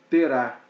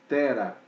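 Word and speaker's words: תרח: Então, o nome do pai de Abraão não é Terá, mas Tera.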